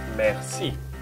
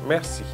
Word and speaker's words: merci: So you have to pronounce the word merci in two different parts, mer and si. There is two syllables linked to it. So is it quite easy to do it? Mer and si. Merci. You have to put them together and link them one to two.